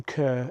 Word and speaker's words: Kerr: that all of the male line in the Kerr family, or Kerr family to pronounce their name correctly, had inherited a gene which caused them to be left-handed.